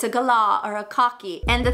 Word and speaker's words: galah: say you can't say Kalaa cockatoo it's a gala or a cocky and the thing is sometimes